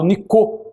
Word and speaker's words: Nicot: Tanto que havia lá em Portugal um embaixador da França chamado Nicot, não é? Se escreve Nicote, e ele até emprestou o seu nome para o termo que surgiu, nicotina, não é?